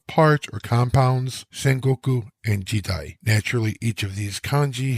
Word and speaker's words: 時代: The second compound is Jidai, and is typically translated into English as period. The first kanji, pronounced ji here, involves time.